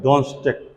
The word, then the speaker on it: Donetsk: और दूसरा का नाम है डोनेट्स्क, स्पेलिंग लिखिए DONETSK, DONETSK।